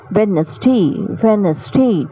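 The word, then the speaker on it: Wednesday: Today is वेडनेसडे. डी वहाँ पे silent है. वेडनेसडे, today is वेडनेसडे.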